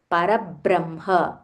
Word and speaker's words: परब्रह्म: से परब्रह्म इट्स not Brahma it इज़ ब्रह्म परब्रह्म परब्रह्म स्वरूपिणी स्वरूपिणी दिस इज दीर्घ स्वरूपिणी परबह्म